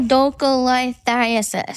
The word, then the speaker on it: choledocholithiasis: Choledocholithiasis. That's pretty Wow. good. That's pretty Great good.